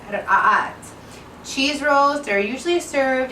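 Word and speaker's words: رقاقات: Now in Arabic they're pronounced ra'at. It's a little bit difficult to say. It's spelled R-A-K-A-A-T, but it's pronounced ra'at.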